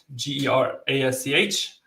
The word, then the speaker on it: Gerasch: Just type in my name, and dot GERASCH. How do you say your last name? Gerasch. Gerasch. Gerasch. But that's German though.